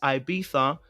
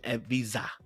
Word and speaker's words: Ibiza: It's never been Ibiza. I need you to go and check it again. It's not Ibiza. Check the Google and check the Spanish way of saying it. It's not Ibiza. The Spanish don't say Ibiza. You don't say that. You understand? Maybe the Italians might say Ibiza because it's pizza, but they don't say it in the Spanish.